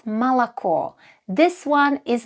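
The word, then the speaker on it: молоко: One important thing you should learn early on is that the letter O is often pronounced as A in unstressed positions. So, for example, this word is not moloko but malako.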